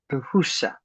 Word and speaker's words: ruhusa: Ruhusa. Notice the ruhusa, Hu, second to last syllable.